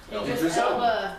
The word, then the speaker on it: Idris Elba: Idris Elba.